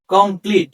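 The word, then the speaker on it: complete: এখানে সিও এম পি এল ইটি অর্থাৎ এই উচ্চারণ হবে দীর্ঘই কমপ্লিট এবং শেষের যেই আছে এটার উচ্চারণ হবে না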